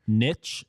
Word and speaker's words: niche: sales so to speak Niche Niche and Nish are all acceptable pronunciations according to Marian Webster so that's like a